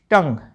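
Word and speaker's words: tongue: टी ओ एन जी यू ई टंग जीभ या जुबान।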